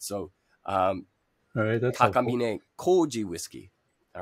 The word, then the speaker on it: Takamine: by the name of Takamine, T-A-K-A-M-I. Yeah, that's right. Takamine. You'll notice that the vowel sounds in Japanese are pronounced almost like they're Spanish or Italian.